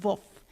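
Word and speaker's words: Wolff: reverend john woof wolf he was born in germany so you pronounce his last name wolf so his dad was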